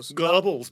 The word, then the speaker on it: Goebbels: That's how you say it. Goebbels, but yeah. Goebbels. Yeah. Thank you. Sure. So- no R. Goebbels. Goebbels. You have to So- almost say the R, but then not.